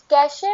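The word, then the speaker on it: cache: क्या मतलब है इसका, कैश मेमोरी, इसको प्रोनाउंस किया जाता है कैश मेमोरी के साथ।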